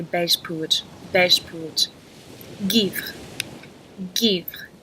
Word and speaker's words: Givre: Givre. Givre. You can just say give. Givre. Just kind of have that givre at the end if you don't want to pronounce it.